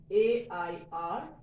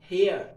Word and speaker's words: heir: Okay, now look at these two words, A-I-R and H-E-I-R. What is A-I-R? Air. Same sound, same pronunciation is of this word also. H-E-I-R is also air. It's not hair or it's not higher. It's air.